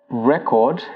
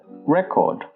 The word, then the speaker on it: record: The next one is record and record. If you're using the noun form of this word, you pronounce it as record. So for example, the school has your name and address on record. However, if you're using the verb form of this word, it becomes record.